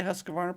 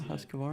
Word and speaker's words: Husqvarna: you say you said did you say husqvarna properly yeah husqvarna yeah that's good because i have a hard time with that every once in a while because it really is spelled funky because q usually has a u after it but anyhow so husqvarna